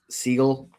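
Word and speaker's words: Siegel: I believe it's Seagull is how you pronounce his last I could be wrong on that from clutch points that the the Warriors could be open to trading Jimmy Butler now.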